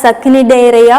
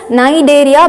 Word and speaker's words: Cnidaria: See here, C is silent, okay, you do not call as Cnidaria or something, it is Cnidaria because C is silent.